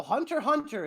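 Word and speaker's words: Hunter × Hunter: wow uh apparently so Hunter Hunter is how you pronounce it no worries uh so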